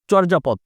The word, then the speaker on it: চর্যাপদ: যদি উকার মত করি চোর যা পদ এটাও সঠিক এখন হি কোথা আসবে